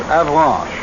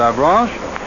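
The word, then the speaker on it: Avranches: this peninsula is 75 miles across between and avalanche i'll spell that again for those of you who have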